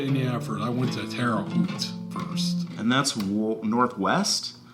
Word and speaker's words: Terre Haute: was going to go to a place called Terre Haute, Indiana. Mm-hmm. Terre Haute? Terre Haute, thank you. Terre Haute. I am terrible with pronunciations.